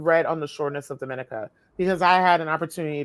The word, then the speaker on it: Dominica: I know everyone pronounces it Dominica because they're thinking of Dominican Republic, but it's Dominica because it's French.